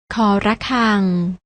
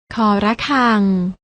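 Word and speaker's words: ฆ ระฆัง: ค คน และ ตัว ที่ 3 อ่าน ว่า ค ระฆัง น้อง ๆ อ่าน ออก เสียง ตาม นะ คะ ค ควาย ค คน ค ระฆัง ฟัง ออก แล้ว นะ คะ ว่า ออก เสียง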